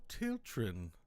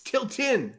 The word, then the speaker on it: Tilton: up and she says oh tilin I was wondering where you were it's tiltin oh tilt sorry til